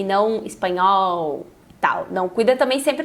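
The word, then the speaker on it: español: E não espanhol, tal. Não, cuida também sempre para fazer as letras no finalzinho das palavras. Não pronunciar espanhol, não. Espanhol, se tem o L é pronunciar o L.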